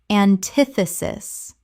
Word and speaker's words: antithesis: Four syllables with the stress on the second.